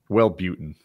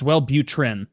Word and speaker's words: Wellbutrin: salad I want yours well-beauten well button is the hot chick drug it's the one all the girls right am I pronouncing it wrong what am I saying uh you said well it's Wellbutrin yeah oh okay thank